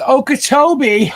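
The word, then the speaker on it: Okeechobee: I was taught that real fast. It's Okachobee.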